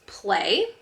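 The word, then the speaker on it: Plae: These are the kid shoes, Play, P-L-A-E. That is the brand right there. It's spelled a little differently than we're all used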